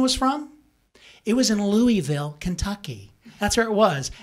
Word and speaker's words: Louisville: I go, how the hell do you get LaVille out of this Louisville? How do you get that out of there? And plus, I'm giving you a little bit of slack here. It should be pronounced Louisville, not Louisville.